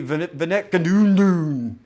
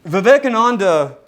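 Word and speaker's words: Vivekananda: as President Trump uh so uh articulately put pronounced his name when speaking to India in 2018. 18 uh Swami Venadun and Vivecananda like Ramachrishna before him believed that all religions were pointing towards the same God.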